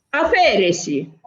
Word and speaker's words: aferesi: Aferesi. Lo so che noi quando diciamo aferesi l'accento lo diciamo, lo pronunziamo sulla prima E, ma non c'è bisogno di fare A, F, E con l'accento, capito?